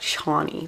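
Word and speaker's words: Chani: really nicely for example the main character c-h-a-n-i if you didn't know it's not pronounced channy or anything like that she said it was pronounced like Shawnee very like nice and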